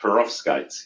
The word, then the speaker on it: perovskites: research team so I'm going to try and pronounce this perovskites is that right roughly that's correct perovskites yeah okay tell us about this so in